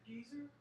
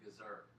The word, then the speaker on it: Gezer: Geezer? Who you calling a geezer? Now, that's the way we would pronounce it, but it should have an extra E in the front. So it's actually Gezer.